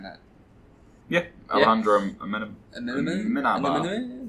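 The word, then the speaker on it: Amenábar: Alejandro Amenabar? There you go, have a crack at saying that. Yeah, Alejandro Amenabar. Amenabar. There's a bit of an accent on the A.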